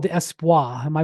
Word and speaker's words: Espoir: It's called the Espoir. Am I pronouncing that correct, Juan? Yann? Yeah. Espoir.